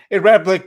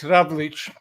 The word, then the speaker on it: Ravlic: It's been anglicised for years, so it's a Ravlic, but over there it's Ravlic.